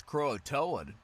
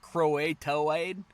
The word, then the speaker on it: Croatoan: well i will say i didn't know how to pronounce chroa toad until right now uh i thought it was like crow a toe aid and i was like